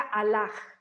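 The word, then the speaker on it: Allah: islamismo que de hecho escriben a la con h final y se pronuncia a la como j como con jota al final también se le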